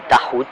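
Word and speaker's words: toghout: Et quand vous avez quelqu'un qui est anti-tahout, tahout ça s'écrit, moi je prononce comme j'entends que c'est prononcé dans les milieux islamiques, mais ça s'écrit T-O-G-H-O-U-T.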